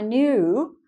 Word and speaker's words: knew: It's the past tense of know. Knew, and another silent K.